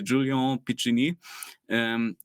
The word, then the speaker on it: Julien Piccini: one of Adobe's consultants, I'm going to pronounce his name in the French way now because he is actually French. So Julien Piccini, he did a like